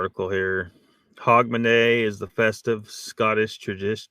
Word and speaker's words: Hogmanay: as New Year's Eve in Scotland it's hogman pronounced hogman the celebration involves fireworks Lively Street parties several